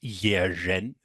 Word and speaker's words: Yeren: And so you say like the Chinese one is pronounced Yerin.